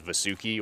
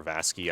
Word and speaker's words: Vasuki: So the next boss we're going to fight is Vasuki or Vasky. I don't know how you pronounce it. I say Vasuki. I think the game actually says it both ways.